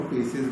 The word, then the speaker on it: faeces: और फीकल matter को फेसिस भी कहते हैं, इसकी स्पेलिंग है FAECES, है ना। वेस्ट मटेरियल को हम फेसिस भी कहते हैं।